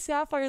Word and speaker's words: Sapphire: Yeah, my name is Sapphire, like the gemstone. That's how you pronounce it.